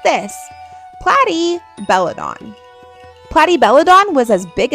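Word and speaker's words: Platybelodon: Platty Belladon.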